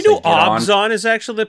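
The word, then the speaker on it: Abzan: You know, I used to really, I don't want to say Did you know Obzon is actually the pronunciation?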